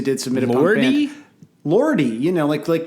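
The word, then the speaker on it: Lordi: Lordy, like Guar. Oh, okay. I thought you were like mispronouncing Lord.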